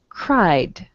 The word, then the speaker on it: cried: verb is cry so i'm just going to add a d sound cried enjoyed okay all right